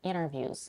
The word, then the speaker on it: interviews: She also drops the T in the next word, interviews. She says interviews and not interviews, interviews. In and, she reduces the vowel to a schwa and drops the final consonant D, n.